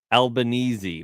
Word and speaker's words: Albanese: Albanese? How do you say his name? Albanese.